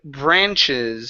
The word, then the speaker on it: branches: up is the word branches so this is an ah sound instead of bra branches ahh bra branches Frankie good job so